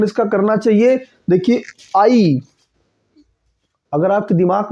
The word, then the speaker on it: ऐ: ए को ए मत कहिए, आई कहिए।